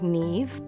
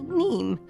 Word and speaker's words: Niamh: Well, my name is Niamh, but seeing as it's spelt as Niamh, you get a lot of people who call me Niamh. It's Irish.